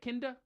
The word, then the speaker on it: Kinder: right, Kinder?